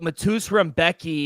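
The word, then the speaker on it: Mateusz Rębecki: Don't know how to pronounce his name, but Matus Rembecki.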